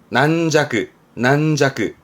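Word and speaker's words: 軟弱: 발음 챙겨두세요. 준한. 요게 연약한 거죠. 연약한. 난자그.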